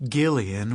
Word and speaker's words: Gillian: pure language, of which Gillian with a hard G was supposedly an example.